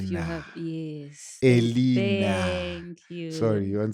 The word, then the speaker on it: Eleanor: Oh, You decided to have an English name, so we calling it the way the English would call it to pronounce it, Eleanor, but Elena. Okay, that's fine.